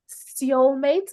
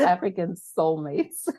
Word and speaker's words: Seoulmates: African Soulmates, but the soul spelled like the city, SEOL.